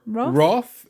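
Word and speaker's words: wrath: It's called Roof or Roth. It So, in Britain, both are valid pronunciations.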